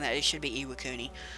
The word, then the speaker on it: Iwakuni: was the ELA Cooney and I think I'm pronouncing that it should be iwakuni it's a beautiful map I love it it's